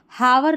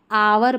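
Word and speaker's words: hour: जैसे इसको हावर नहीं आवर पढ़ेंगे। अब इसको हावरली नहीं आवरली पढ़ेंगे।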